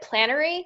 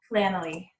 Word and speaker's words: Planoly: So, as Vanessa was talking about that, was it Plannery? Is that what your app was called? Planoly.